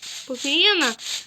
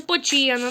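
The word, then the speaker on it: Poochyena: не знав внутрі по почеєна ну нут так не читається а читається по чєна ну бо цех це в англійській чи не знаю хоча в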